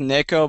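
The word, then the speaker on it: ねこ: Yeah, I mean it's pronounced Neko, but we just call her Nico because it's otherwise it sounds like you're saying naked.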